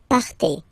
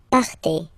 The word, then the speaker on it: partez: Okay, then for vous, classic ending for vous as well, EZ, but then you pronounce it et, vous partez. Vous partez.